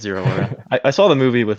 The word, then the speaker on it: Zeraora: I was pronouncing it like Zora. Zeraora, yeah, I don't even know. I think it's Zero Aura.